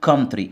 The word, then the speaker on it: country: دولة يعني country، الاو هنا سايلنت، والسي بنطقها ك، واليو يبقى كم، والتي مع الار بنطقها ترا.